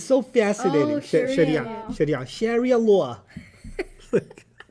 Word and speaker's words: Sharia: He said he pronounced things in the most fascinating ways. He said things like Sheria. What? It's so fascinating. Sharia Sheria like a New York accent with his Yep.